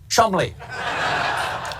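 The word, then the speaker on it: Cholmondeley: It is in fact pronounced Chumley.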